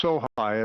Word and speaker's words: Sohi: And Sergeant, I think it's pronounced Sohi, it's S-O-H-I.